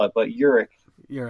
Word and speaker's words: Uhrich: like I said nobody can say it or spell it but Urich you're like okay I was I was I